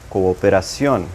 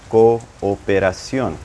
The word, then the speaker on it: cooperación: Also, you might see double O's, cooperación, because I'm pronouncing both of them, cooperación.